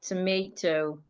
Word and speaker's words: tomato: Americans pronounce the word as tomato. We have the word deposit. Deposit. We have the word banana. Banana. So for these type of words, we are stressing their second syllable.